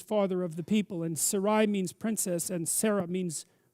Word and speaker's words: Sarai: i don't know how to say that sarai sarai it's sarai to begin with yes is that